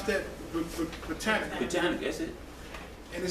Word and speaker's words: Britannica: How you pronounce that? Britannica.